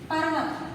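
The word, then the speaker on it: पर्वत: See, when we are putting up ra, that is pronounced adhara. And it should be pronounced before this letter. Before the next letter, it should be pronounced. Pa, ra, va, ta. Parvat. Okay?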